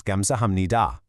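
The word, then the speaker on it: 감사합니다: Even though that third syllable is written with a P sound, when you speak it naturally, it completely blends into an M sound.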